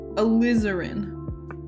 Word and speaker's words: alizarin: you enunciate in actuality alizarin is it a liz urine or alizarin like slytherin you enunciate a lizard like that am i saying it right er in okay alizarin that sounds terrible my